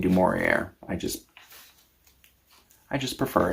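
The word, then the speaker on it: Du Maurier: Um, I picked up a copy of Rebecca by Daphne Du Morier. I aware that I'm mispronouncing her last name. I'm American. We do such things. It's not supposed to have a hard R. It's Dorier.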